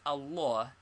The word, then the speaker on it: Allah: How is Allah pronounced? The middle fata is very broad and is pronounced like in awful.